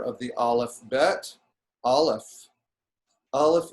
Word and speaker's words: Aleph: Aleph is silent.